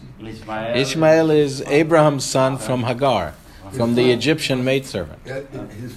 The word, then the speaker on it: Hagar: So, isn't Hagar, is that how you pronounce it? In English, yeah. Yeah, Hagar.